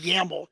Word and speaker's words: YAML: We've adopted the use of so-called YAML, pronounced YAML files in MsPASS because it's somewhat simpler than some other formats like XML, which a lot of people use.